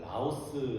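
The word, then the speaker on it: λαός: 단어는 대부분 부정적인 단으로 쓰입니다 백성을 헬라어로 마태복음에서는 라오스 라고 발음되는 이렇게 헬라 단어로 쓰였는데이 백성으로 번역되는 라오스는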